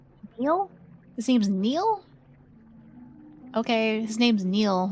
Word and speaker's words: Neil: His name's Neil. Okay. His name's Neil. I I thought it was Nile. Okay. Neil. I've never seen Neil spelled like that.